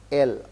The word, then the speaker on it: elles: L, we say elle is she, elles is they, but pronunciation will be L.